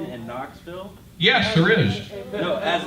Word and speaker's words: Knoxville: there an n in Knoxville yes there is no as a beginning letter sure there is why were they call Knoxville well it's very logic that way because K is silent but that's I think